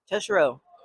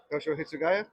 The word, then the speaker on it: Toshiro Hitsugaya: Because I always forget how to pronounce the name. Teshiro. Toshiro Hitsugaya.